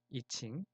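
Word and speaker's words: I Ching: 그리고 영어로는 이칭이라는 용어를 중국식 발음 그대로 사용하고 있습니다. 이칭, 역경의 64궤, 휴먼 디자인에서는 게이트라고 부르는데요.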